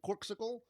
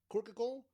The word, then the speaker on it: Corkcicle: like i love my corksicle corkicle corksicle i think it's corksicle that's how i've been pronouncing it it's my new favorite